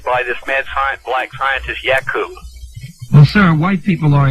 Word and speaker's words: Yakub: they come from black people and come from Yakub is the correct pronunciation, what does that say about Yakub and black people?